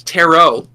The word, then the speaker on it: tarot: love her with carrot cards huh terot card terrot not carrot cards so now she it's not even yeah it's not even tet it's tarot oh tarot cards R's sister is saying it